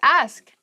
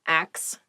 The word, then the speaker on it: ask: the next word is ask ask please pronounce this correctly it is not ax many native speakers make this pronunciation mistake and it really bothers me ask ask me